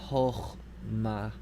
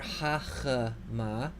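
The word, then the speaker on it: חכמה: So this is chochma. This also, if you think about it, if it were hachma, the second syllable would be an unstressed consonant followed by a short vowel, and that is not tolerable for Hebrew. So, chochma.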